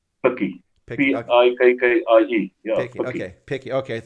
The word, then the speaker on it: Pikkie: How would you pronounce that? Picky. Picky. Yeah.